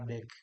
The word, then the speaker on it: deque: Oh, ternyata tadi saya salah pengucapannya. Seharusnya yang betul adalah deck, bukan deki.